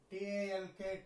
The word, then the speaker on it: talk: T-A-L-K, talk, when there is A-L and when L is not pronounced, then it is represented by a tick dash.